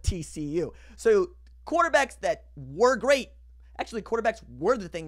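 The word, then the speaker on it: Grier: so quarterbacks that were great actually quarterbacks were the thing that was great about this conference last year Kyler Murray will GRE hard G Brock pie you can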